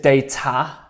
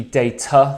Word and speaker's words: data: to my mind is data she said data um but it should be data the schwa on the a so not too serious